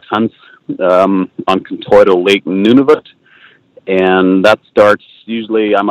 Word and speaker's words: Nunavut: my caribou muskox hunts um on contour lake nunavut and that starts usually i'm up there by